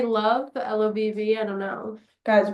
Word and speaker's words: LOVB: of all the players like it's pronounced love they probably posted it